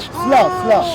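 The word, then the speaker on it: Salé: Salah. Sla. suburb of Rabat. He's talking about I'm sorry, Salah. I got the name wrong.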